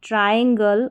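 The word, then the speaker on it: triangle: ट्रायंगल और ट्रायल। यहां पर टी आर आई को ट्राई करके पढ़ा जा रहा है।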